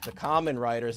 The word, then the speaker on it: Kamen Rider: I think you told me it was Kamen Rider, right?